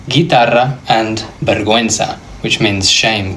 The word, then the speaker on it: guitarra: The same with the word guitarra, a guitar. I'm not saying guitarra, guitarra. This isn't really making a sound.